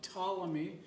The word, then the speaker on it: Ptolemy: going to talk about ptolemy like you don't pronounce the p ptolemy i said in the